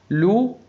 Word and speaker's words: loup: AN تنطق en, maman a dit que U لا ينطق, les ES تنطق A, loup PS لا تنطق loup, ça CCD تنطق ça n'existe X ينطق X n'existe que très très loin.